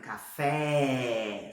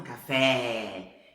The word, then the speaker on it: café: E no espanhol, não existe som aberto, só existe som fechado, ok? Então, olha só. No caso dessa palavra aqui, ó, se você falar, por exemplo, café, se você chegar numa cafeteria lá na Espanha, sei lá, e falar, quero um café, eles vão ficar olhando